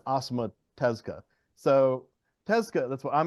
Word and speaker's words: Osamu Tezuka: Everybody calls him Osamu Tezuka, but that's just what us Americans say. I'm pretty sure it's Osamu Tezuka.